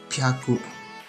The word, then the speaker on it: pyaku: Nah, kalau dia untuk pengecualiannya hachi dan 6 itu bukan hyaku dibacanya, tapi pyaku. Jadi hachi ditambah hyaku artinya 8 ditambah 100, 800.